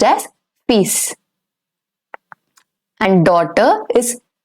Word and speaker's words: fils: For son, it is fils. The L over here is going to be silent. It's pronounced as fils.